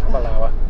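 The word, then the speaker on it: Aberlour: We looked it up on Google and it said it was law at the end. Yeah. It's Awalawa. Rhymes with Google flower.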